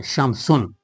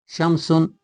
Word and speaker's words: شمس: Because Shamsun u has begun with a letter uh uh with which we uh cannot pronounce uh the article lamb and the article lamb disappears whenever it is added to the word shamsu.